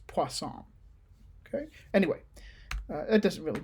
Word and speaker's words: Poisson: you want to be if you want to say it more in a french accent or or pronounce it how the french would pronounce it it's poisson okay anyway that doesn't